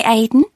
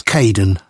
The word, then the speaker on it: Kaden: hello Charlotte I'm Kaden one of the supervisors welcome to the team hi Aiden uh it's Kaden I'm so sorry oh